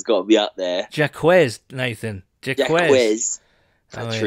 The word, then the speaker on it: Jacquez: He consulted his XFL coach and they both said it was Jacquez, and he apologised to Jacquez for pronouncing it Jacques, and he said, no worries, man.